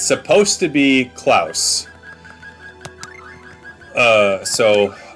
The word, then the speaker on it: Claus: I'm going to change this freaking name cuz I keep mis pronouncing it all the time. It's supposed to be Clouse.